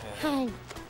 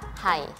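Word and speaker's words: 海: Bahasa Mandarin dari laut adalah hai. Iya kan, Lasya? Hampir benar, Pitan. Tapi Pitan masih salah nadanya. Pengucapan dari kata laut yang benar adalah hai.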